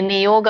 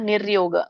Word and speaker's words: ನಿರ್ಯೋಗ: ನಿಯೋಗಕ್ಷೇಮ ಆತ್ಮವಾನ ಅಲ್ಲಿ ನಿಯೋಗ ಅಲ್ಲ ನಿರ್ಯೋಗ ನೋಡಿ ಅರಕವಳೆ ಇದೆ ಆತ್ಮವಾನ್ ಸಾರಿ ಮಾತಾಜಿ